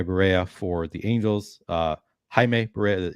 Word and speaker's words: Jaime: Jaime Barria for the Angels. Jaime Barria, you don't pronounce the J right.